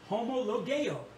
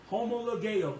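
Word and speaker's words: homologeo: now listen to this homologo homologo that word is is spelled h o m o l o g e homo ligue now one of the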